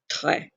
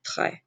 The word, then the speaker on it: très: bad, use the word très. Again, do not pronounce the S. And that accent makes the E as an eh sound, so be très.